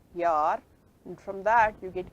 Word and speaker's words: Jahr: Okay, in German it is written this way, but it's pronounced Yar, and from that you get ear in English.